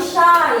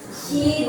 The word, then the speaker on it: shy: Lalu shy, itu bukan she, bukan itu, tapi shy, gitu ya.